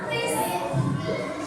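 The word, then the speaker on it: QRIS: Kris. Bacanya kris. Bacanya benar itu kris.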